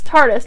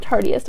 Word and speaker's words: Tarteist: trying the tarte tarteist that's tarteist not tartiest i was pronouncing it tartiest but it's the tarteist lash paint and i